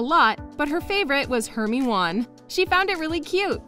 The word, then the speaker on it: Hermione: Rowling put a lot of extra thought into Hermione's.